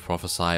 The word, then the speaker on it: Prophesy: Hello reformers and welcome back to a let's play of Prophesy of Pendor.